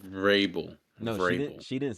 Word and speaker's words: Vrabel: yeah, How did she pronounce it? Mike Verbal? Vrabel.